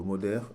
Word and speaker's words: moder: Alors le moder M O D E R hein comme son comme c'est comme c'est prononcé euh c'est un sol